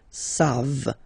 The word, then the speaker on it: savent: Here, classic ending for il and elle at the plural form, E-N-T. You don't pronounce it, so you get the sound savent.